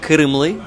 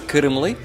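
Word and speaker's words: Qırımlı: uh cran Tatar uh kimly to be correct uh Kian Tatar is not the right name um the right name is kimle but it's hard to pronounce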